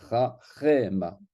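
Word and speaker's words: חכמה: Eh bien, ce chaf avec ce sheva sera vocal. On va dire chachema.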